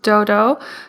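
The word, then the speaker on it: Doudou: yes i do since birth pretty much it's dodo it's spelled d-o-u-d-o-u and that's pinging which is like the alphabet in chinese in mandarin so it's pronounced dodo and it's means bean bean like it means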